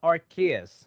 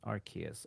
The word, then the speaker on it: Arceus: so uh pokemon legends uh archaeas rks arceus arceus we just we just corrected the the pronunciation i'm off again arceus uh so 6.5